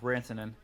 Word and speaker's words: Rantanen: Yeah, Rantanen.